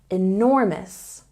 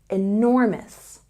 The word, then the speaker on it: enormous: that building is enormous there's a stress on the second syllable here enormous enormous and don't forget to